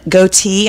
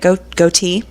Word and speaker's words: Goethe: That's from Johann Wolfgang von Goethe. I think that's how you say it, Goethe.